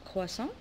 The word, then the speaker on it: croissant: Alors croissant. Voilà. On a tigre. Voilà le tigre, c'est un animal sauvage, tigre. Voilà. Alors dans le mot croissant, on a T à la fin, mais je ne la prononce pas.